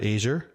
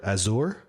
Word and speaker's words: Azure: because this technology I've I call Azure based on the color at least the pronunciation over here I've heard Azia I've had heard azour uh what else what